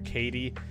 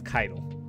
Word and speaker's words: Kaido: way i did see a lot of people mispronouncing her name i think astacros called her katie and some people are saying kaya kaido uh it's kaido okay now on to the